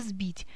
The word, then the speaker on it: сбить: позиции перед звонким согласным как это произошло в слове сбить мы произносим звонкий за потому что он стоит перед звонким хотя пишем букву с это неизменяемая приставка которая